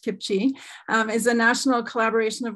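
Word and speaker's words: CPCHE: action next slide please so Kipsy the Canadian partnership for children's health and environment um pronounced kimchi is a national collaboration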